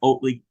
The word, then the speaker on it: Oatley: it's not EF educ it's just EF Oatley canondale that's what it is okay thank